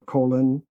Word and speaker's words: Colon: April 22nd in Calhoun and April 24th in Colon. Am I pronouncing that right? Colon.